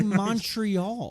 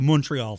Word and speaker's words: Montreal: joke or just say Montreal yeah that's what I'm saying don't do the accent then just say it like you would normally as an American with no French accent like all of them